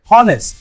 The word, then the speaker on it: honest: Silent H trick. Honest. The H is silent, so we use abba.